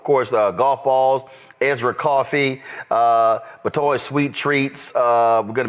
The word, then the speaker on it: Batoy: Is it Batoy or Bitoy? Just pronounce that for us. Batoy. Batoy. So the company is Batoy Sweet Treats.